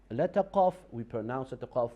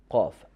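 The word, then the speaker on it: قاف: When we connect the root of our tongue with the uvula, that is the pronunciation of letter qaf.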